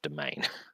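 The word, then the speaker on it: demesne: her own humble domain. That's always a word double take cuz it's spelled demens but it's pronounced domain.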